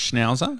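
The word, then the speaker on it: Schnauzer: But it's pronounced schnowzer, is it?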